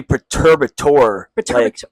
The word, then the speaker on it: Perturbator: like, uh, how do you say Perturberator? Uh, we said perturbator, but like perturbator I've heard and I don't know what's Yeah, I don't It's supposed to be perturbator.